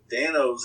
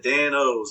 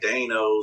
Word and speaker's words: Dan-O's: see like it said dan o's a lot of people were pronouncing it as like dinos or don gotcha in between the o and you know